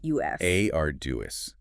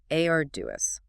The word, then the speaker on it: arduous: Auis stress on the first syllable. Three syllables total. Correct. Arduous.